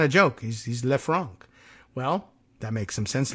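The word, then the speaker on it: Le Franc: Lou LEF Fran so we try and give it some sort of French pronunciation here and by the way you know it's not a joke he's he's lefran well that makes some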